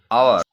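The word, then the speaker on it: hour: আওয়ার, এর শুরুটা কিন্তু কনসোনেন্ট দিয়ে, কিন্তু এর উচ্চারণটা কিন্তু ভাওয়েলের মতো, মানে অ, আ, আওয়ার, এখানে কিন্তু অ্যান হবে।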